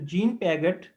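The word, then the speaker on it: Jean Piaget: तो जीन पियागेट, इसका pronunciation यही हो गया, जीन पियागेट।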